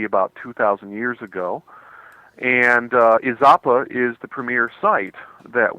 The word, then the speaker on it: Izapa: John, what is the importance of the site called I believe it's pronounced Izapa? Yeah. Yeah, Izapa.